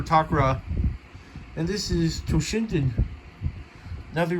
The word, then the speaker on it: Takara Tomy: and i'm pretty sure most of you pronounce it as takara i prefer takra and this is toshinton